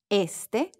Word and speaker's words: este: Este. Este. Open your mouth and exaggerate. Not este. Este.